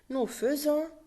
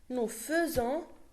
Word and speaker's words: faisons: Nous faisons, it's written F-A-I-S-O-N-S, F-A-I, but we pronounce it feu.